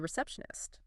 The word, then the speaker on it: receptionist: That -tion sounds like shun.